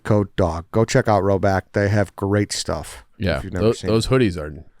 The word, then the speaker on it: Rhoback: I just have like jeans, khakis, and I'm wearing these now, these Carhartt pants, but I need a lot of joggers from Roback in the rotation immediately.